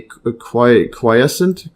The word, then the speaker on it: quiescent: Memory B cells circulate in the bloodstream in a quiescent Qcent or inactive. Let's see the pronunciation.